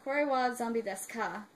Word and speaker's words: Kore wa Zombie desu ka: It's pronounced Kore wa Zombie desu ka, and I left out the ka part. Kore wa Zombie desu ka?